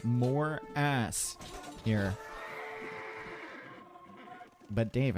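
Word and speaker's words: Morass: That's right, more ass here. But Dave, it's actually pronounced more ass.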